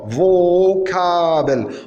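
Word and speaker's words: Vokabel: vos kabel vocabulaire vocable on remarque vocable le fao il ne s'est pas prononcé faro mais il s'est prononcé v pourquoi comme on l'a dit précédemment les mots étrangers à langue allemande gardent leur physique d'origine et le mot vocabulaire bien vocable vocabulaire vocable c'est un mot étranger on la remonte c'est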